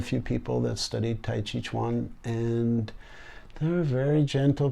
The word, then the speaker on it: Tai Chi Chuan: I teach one okay that Tai Chi Chun chi chuan chuan oh okay I'm sorry I mispronounced it so how did you get started